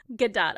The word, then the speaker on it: Gadot: and then found out she died so yeah good dot okay I will never mispronounce it again but like she is just